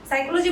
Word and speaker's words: psychology: এই নামের বানানটাতে একটা ইন্টারেস্টিং পার্ট আছে। সাইকোলজি শুনলেই কি মনে হয় আমাদের উচ্চারণ বানানটা কিভাবে হবে, এস দিয়ে শুরু হবে, কিন্তু আসলে কিন্তু তা না। সাইকোলজি বানানটা শুরু হয় পি দিয়ে, অর্থাৎ PSYCHOLOGY, সাইকোলজি।